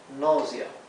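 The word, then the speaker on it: nausea: que les dije aquí la a con la u se pronuncia o o noia noia bien y noia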